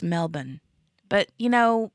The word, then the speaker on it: Melbourne: that it's not pronounced Melbourne although I say it that way it's Melbourne but you know Aussies are bad about not using RS in a lot of their words except till they say